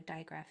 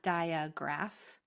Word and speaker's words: digraph: you know what a digraph is. Digraph is a Greek word and it's spelled this way. Digraph. It's not dia. It's not diagraph. There's no in that word. Digraph.